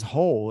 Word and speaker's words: whole: oreo cookie commercial oh which is the same pronunciation as as whole it's the same pronunciation